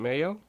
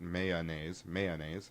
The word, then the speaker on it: mayonnaise: Well, they're saying that I'm likely to pronounce it mayonnaise, like the way I've been saying it, and you should be too. Nope. There's the 2-syllable mayonnaise.